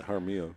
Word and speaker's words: Haro: to see how do you say Haro yeah Haro he he's been pretty good lately he came